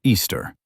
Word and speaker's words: Eostre: This specific goddess was named Eostre, pronounced Easter.